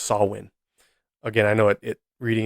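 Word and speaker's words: Samhain: pagan gelic holiday pronounced sawin now if you see the the word the way it's spelled phonetically the way it's spelled in English you would think it'd be pronounced Sam Hayne it's spelled s m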